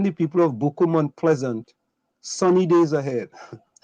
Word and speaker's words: Sonny: you know and though my name is spelled s-o-n-n-y sunny s-u-n-n-y sunny days ahead is